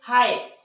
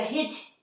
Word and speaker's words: high: उसी तरह से हाई, HIGH, इसे पढ़ना चाहिए हिच, पर हम लोग हिच पढ़ते हैं, डेफिनेटली नहीं, इसे क्या पढ़ते हैं हम लोग, हाई।